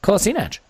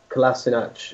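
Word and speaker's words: Kolašinac: I understand that one of them is the Bosnian way and one of them is the German way of pronouncing it. I forget which way around it is, hence the reason there's two different pronunciations.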